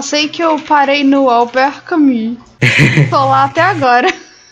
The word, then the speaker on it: Albert Camus: É Albert Camus. Aham. Não, mas porque. Igual, por exemplo, eu já vi muitas pessoas falando Albert Camus, né?